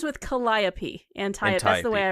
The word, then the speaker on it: Calliope: It rhymes with Calliope.